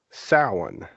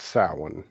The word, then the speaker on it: Samhain: That may not sound familiar, but it's the spelling of it is nowhere near how you pronounce it. The spelling is Samhain, which I'm sure you've seen that before, Yeah. but it's pronounced Samhain, and I'm sure other people pronounce it Sam Hain or Yeah. not for sure Yeah. how they pronounce it.